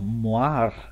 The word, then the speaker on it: Moiré: Another thing is the Moiré error, which is pronounced like this because it's a French word.